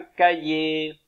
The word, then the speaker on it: cahier: Un chantier, un logiciel et un cahier. Comme le cahier d'exercice, avec un H muet au milieu.